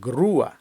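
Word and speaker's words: grúa: воно повинно звучати дія наприклад груа кран Підйомний кран не груа не груа А груа де дифтон розбивається на два окремих звуки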